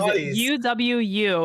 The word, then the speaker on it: UwU: announced the name so the name is uwu that's how you pronounce it and i was asking